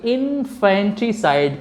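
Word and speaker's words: infanticide: इसका जो उच्चारण है इनफैंटिसाइड।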